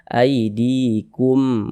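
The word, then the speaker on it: أيديكم: Sebelum ya sukun ada kasrah harakat. Tanda kasrah ini berupa garis tunggal di bawah huruf. Sekarang, ada huruf ya, ada tanda sukun, didahului oleh tanda kasrah. Kemudian huruf yang memiliki harakat kasrah dibaca panjang lebar. Jadi, " di" dibaca panjang. Mad thobi'i panjangnya dua harakat.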